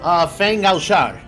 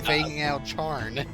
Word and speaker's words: Fang Al Shar: Fang Al Shar. I have been putting an N. I've been doing Fango Charn. Ah, damn it. I get it. But it's pronounced out Shar, Shar, Shar, da da da da, Shar, Shar, Shar.